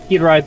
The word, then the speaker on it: Hiraeth: Just to let everybody know, Hiraeth, or Hiraeth as it's pronounced, has moved to a different engine, which caused a lot of setbacks.